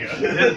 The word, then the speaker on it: Django: the J is silent. Django.